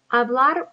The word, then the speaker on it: hablar: Hablar por teléfono. Hablar por teléfono. Repite, hablar por teléfono. The H is silent and it's teléfono, not telefono.